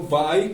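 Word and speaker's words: buy: Bye a New Card el verbo Bye comprar se pronuncia Exactamente igual que va ahí para decir adiós como Bye bye igual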